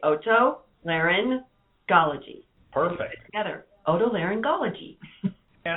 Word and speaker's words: Otolaryngology: and a little bit about your providers it's pronounced Otolaryngology we are the Associates of Otolaryngology which is